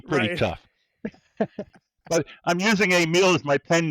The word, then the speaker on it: Emile: to hang out with didn't know how to pronounce Emile, and they would just call me Emily.